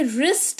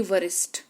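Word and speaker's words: wrist: होते हैं हमारे और ये रिस्ट है ना कि वरिष्ठ।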